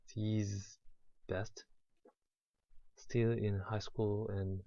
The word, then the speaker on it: ZZZZ Best: The pronounce is Z's best.